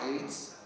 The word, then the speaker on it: Ayds: These AIDS, called AYDS, but pronounced AIDS, were little sweets that you used to eat to make you lose weight.